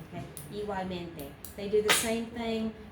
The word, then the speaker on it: igualmente: Pronounce every vowel, but you can get very soft and very lazy on this G. here, and you don't even do a G, you just do a W. Igual, like that.